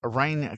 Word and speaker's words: Väinö: show, episode 32, we tell the story of Rain Katonin. Sometimes his name is seen as Veno or Weno with a V or W, but according to Finnish research, it is pronounced Rain.